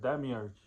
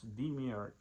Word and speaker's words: demiurge: I said demiurge, and it's demiurge.